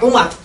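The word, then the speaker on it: عمر: Dan dari Amr bin Kharijah, kalau tulisan Amr itu tidak ada wawunya, maka dibacanya Umar. Ini ya, tulisannya kalau ada wawunya dibacanya Amr.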